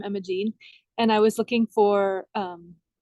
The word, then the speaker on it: Imogene: Imogene. Uh-huh. Just Imogene. And so it has that word gene in it.